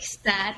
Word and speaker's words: Saad: last name but anyways you would pronounce it like sadness but it actually means happiness I love that I